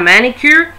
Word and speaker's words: manicure: Eu pronuncio o som do C e eu pronuncio o som do U, porque a letra em inglês é U, ok? U. Então, eu pronuncio U, manicure. Cure, alright?